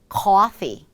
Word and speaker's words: coffee: coffee, coffee. R을 살짝 붙여서 하고 놀란 그 입술, 이 모양, 입꼬리의 힘을 살짝 빼는 소리까지 연결을 하시면서 소리를 냅니다. 커피가 아니라 coffee, coffee.